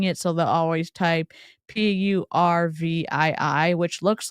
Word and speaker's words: Purvii: reacting to pervy today it's not pronounced it's not exactly pronounced pervy it's supposed to be purv but like you can